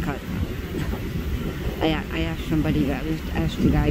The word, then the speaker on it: Cozumel: Last time I was in Cozumel, it's like, I hear people pronounce that Cozumel and all that and stuff. It's just Cozumel.